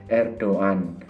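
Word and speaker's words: Erdoğan: Tapi yang benar membacanya itu adalah Erdogan. Jadi itu kalau dalam bahasa Arab itu seperti huruf ghain.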